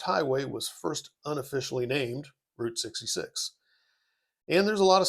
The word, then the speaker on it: Route 66: And uh make sure you pronounce that right. You can say route in any other context you want, but it's Route 66.